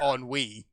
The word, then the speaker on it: ennui: It is pronounced ennui. That's French.